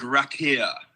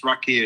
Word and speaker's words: Raqia: And called Rakir, who are based here in LA, amazing musicians. Rakir is spelled Raqia.